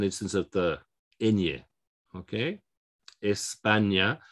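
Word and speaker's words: España: of the india okay espana we have to stress on the second syllable because the last syllable is a vowel okay espana colombia what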